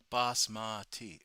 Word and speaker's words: basmati: How is Basmati actually pronounced? I don't know. Ask her. Apparently, I butchered it. Bus moody. Bus moody or is it I love ruffling the commasar. No man. Basmati. Oh. Oh. Basmati. Ah. Okay.